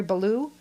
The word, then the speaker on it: Balough: Is it Gary Balough?